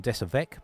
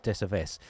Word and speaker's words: Desaves: So I had been calling them Desavec before, but actually the correct pronunciation is Desaves.